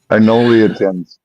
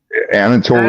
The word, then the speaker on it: Anatolian: Anoliatan Shepherd. Anoliatan Shepherd? Or Anatolian? Anatolian Anatolian? Shepherd. Okay, Yeah. we got Anatolian Shepherd.